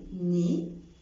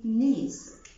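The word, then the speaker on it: nez: القاعده العامه بتقول في اللغه الفرنسيه لو جه حرف ساكن في اخر الكلمه في الغالب مش بيتنطق. اكزامبل تو، تو، مش بقول تات، بقول فوا، فوا، مش بقول فواس، بقول ني، ني، مش بقول نيس.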